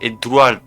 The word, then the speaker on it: Eduardo: Non, c'est pas Eguardo, c'est Eduardo.